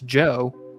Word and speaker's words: Djo: So it's Joe, like his real name, but it's spelled different.